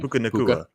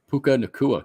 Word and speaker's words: Puka Nacua: Puka Nacua. Puka Nacua. He was elite with the pronunciation.